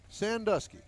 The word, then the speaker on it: Sandusky: i'll tell you okay sandusky sandusky yes sir like ohio that's it no but jason they